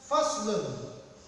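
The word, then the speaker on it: فصل: Ya, pertama huruf fa berarti fa, kemudian sh. Kalau sh berarti pakai sod. Kalau she berarti pakai shin. Kalau s aja berarti pakai sin. Ya, harus dibedakan. Karena sh berarti pakai sod. Fas kemudian nun ini pakai domah tain. Fas lun.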